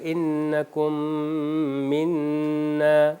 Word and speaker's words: انکم منا: طور پر انکم منا۔ انکم کے اندر میم جو ہے وہ ساکن ہے، انکم، اگلا منا جو ہے وہ حرکت والا ہے، تو انکم منا اس طرح تلفظ ہوگا۔ اس میں کیا ہوتا ہے کہ دوسرے میم کے اوپر شدہ آ جاتا ہے اور غنہ کی صفت کو ادا کیا جاتا ہے۔ دوسرا کون سا جو